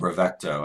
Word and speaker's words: Bravecto: Oh, Bravecto. I was trying to say brave and then CTO.